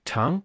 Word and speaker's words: 長: The Chinese character chang 长 has a pronunciation that's quite similar to the word charm.